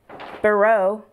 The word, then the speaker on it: Burroughs: out DOM and Diana burro you don't pronounce the H this conversation is all